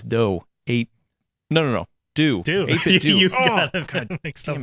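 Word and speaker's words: 8BitDo: 8-Bit Do, not 8-Bit Dough.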